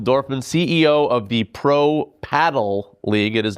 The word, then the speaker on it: padel: CNBC Sport the podcast, it's pronounced paddle, not padel, and we've got the